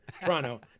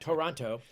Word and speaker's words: Toronto: Um, and I pronounce that pronounce that the Canadian way, by the way. It's T R O N O. Toronto, not Toronto.